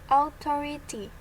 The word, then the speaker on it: authority: you find the word authority. How do you pronounce it? Authority. Authority. Ini kita pelajari pronunciation lagi. Authority. The vowel letter A, when followed by U plus consonant letters, is pronounced O.